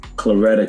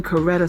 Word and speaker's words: Coretta: audio i understand what claretta king felt like he said claretta king as in coretta scott king the wife of martin